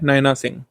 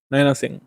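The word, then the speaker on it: Nina Singh: नैना सिंह। नैना सिंह, वैसे नीना सिंह जो है सही प्रोनाउंसिएशन है।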